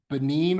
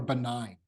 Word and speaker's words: Benin: But by the way, that country is either pronounced Benin or Benign.